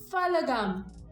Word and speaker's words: Pahalgam: It's P. It's P-A. It's not P-H unless I don't know. I No, just the feel pronunciation. suddenly weird giving them an English lesson. They severely need. I mean, In which word does P-A get pronounced as F?